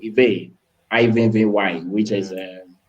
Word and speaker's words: Ive: expecting a female, so my dad named me Ive, Ivy, which is pronounced in other countries as Ivy, but he named me Ive.